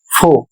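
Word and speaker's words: faux: अगला शब्द है एफ ए यू एक्स फो इसका अर्थ होता है नकली। तो यहां पर एक्स साइलेंट है।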